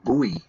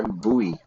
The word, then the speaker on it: buoy: Americans pronounce as like buoy. Yeah, buoy. But I always just say boy, like kind of kid, you know, a boy, a boy, and a girl.